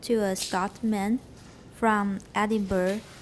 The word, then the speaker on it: Edinburgh: You'll add a schwa at the end. Everybody, Edinburgh.